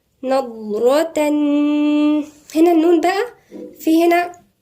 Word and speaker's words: نضرة: تعرف في وجوههم الضاد هنا تنطق من عند مخرج الضاد موجود عند ناحية الأضراس، مش من طرف اللسان، من عند الأضراس، ونفخم الحرف نضرة نضرة.